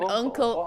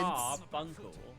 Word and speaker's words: Carbuncle: That's why Jamie said it, like carb uncle, like an Carbuncle. uncle Oh, I'm so of. confused. I don't know. Oh no, it just sounded like you were saying like two words. Carbuncle.